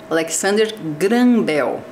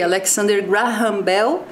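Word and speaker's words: Alexander Graham Bell: televisão algum professor falando Alexander grel Ok tranquilo é a pronúncia em português e eu pronunciei Alexander grambell pensando que a gente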